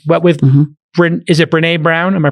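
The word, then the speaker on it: Brené Brown: fact producing it what with brin is it renee brown am i pronouncing brown yeah brene brown produ i believe produces her own show with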